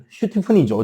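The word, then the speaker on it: Stephen Hawking: 죽을지도 모른다던 그 천재, 슈테픈 호킹 박사는, 슈테픈이죠, 정확하게는 이제 정확한 발음은. 스티븐 호킹이라 했는데, 원래는 슈테판에 가까워요, 발음이.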